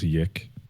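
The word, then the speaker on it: YIIK: And I but no, did you know that the creator doesn't like it to be named Yick? Oh, I don't care. I thought he wrote it that way. I thought it was Yeek. But he doesn't want it pronounced that way.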